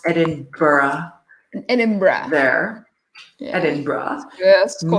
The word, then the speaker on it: Edinburgh: Zurich, Prague, Edinburgh, which I believe is pronounced Edinburgh.